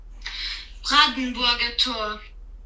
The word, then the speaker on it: Brandenburger Tor: Brandenburger Tor.